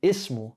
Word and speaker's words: اسم: The first one, ismu, has a kasra on there. So if there's nothing before it or it comes in the front of a word, you say ism.